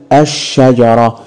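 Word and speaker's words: الشجرة: نضيف لها الف ولام هقول الشجره الاحظ ان ال ماتنطقش بس ده مش كفايه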